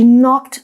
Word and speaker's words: knock: 又饿又渴的她 she knocked on the door. Knock 这个字什么意思呢？ Let's find out.Knock 这个动词呢，代表敲打。那当你看到 kn 开头的字啊，这个 k 是不发音的哦。那我们说呢，可以敲门啦，可以敲窗户。You can knock on the door or knock on the window.